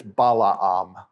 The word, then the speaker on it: Balaam: of balam and balak actually it's Balaam because when you see two vowels together like that in Hebrew you have to pronounce both of them that's why it's not